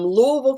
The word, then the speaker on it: Louisville: things um did you want to talk about louisville and cincinnati real quick with those being an hour away from campus sure so um louisville kentucky and i know you're like what is